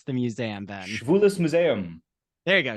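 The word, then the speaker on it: Schwules Museum: board of director for the how do you pronounce the museum then shus Museum there you go schis Museum very German is it in Germany it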